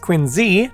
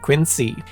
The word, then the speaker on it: Quincy: President John Quincy Adams is supposed to be pronounced Quincy not Quincy in any event ever wondered where the story